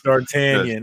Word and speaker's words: D'Artagnan: So what up to D'Artagnan or D'Artagnan? 3 Musketeers. Thank you, sir. Okay. So it's D'Artagnan. Yes.